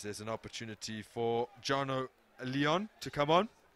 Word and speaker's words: Leon: Leon, whose name is spelled like lion and not pronounced like that. Fortunately, you said it first. I was going to say the lion entering the field. Is that the French pronunciation? Yeah, it's like Lyon, like the French city.